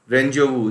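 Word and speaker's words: rendezvous: रेंजोवू, इसका उच्चारण भी सही कीजिएगा, इसका उच्चारण सीधा लास्ट में आ जाएगा वू, वू, जैसे डेजा वू वैसे रेंजोवू।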